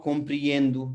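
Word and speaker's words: compreendo: एक बार फिर से, ये ओ पे खत्म हो रहा है, देखिए यहाँ भी ओ है और यहाँ भी ओ है, ठीक है। तो ये नाउ कॉम्प्रिएंदू, ये ओ है लेकिन ये क्या है, ऊ।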